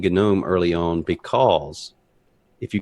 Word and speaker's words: GNOME: gnome website or the gome website they'll say gnome you new in Gnome 3 do um and I thought okay that's the proper way to say it and um at any